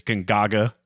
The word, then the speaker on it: Gonzaga: It's Gonzaga. Yeah, that's how I pronounce it too.